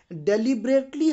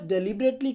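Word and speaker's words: deliberately: वैसे इसका असली जो प्रोनाउंसिएशन है वो डिलीबरेटली है।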